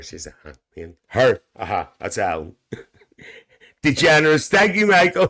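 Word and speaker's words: DeGeneres: That's degenerous. Thank you, Michael. Degenerous. Thank you folks for helping me with the pronunciation.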